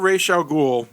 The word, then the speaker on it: Ra's al Ghul: The character of Ra's al Ghul, which is how it's pronounced in the comics, and even if you